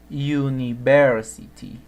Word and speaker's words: university: que sucede es que en la escritura university empieza con un pero en la pronunciación se dice o inicia con ie university university no digo university university y como el sonido que tiene en la pronunciación es un sonido consonántico porque la hay es